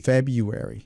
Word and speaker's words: February: why I loved June February February February so that is the February is the correct pronation precisely yeah and June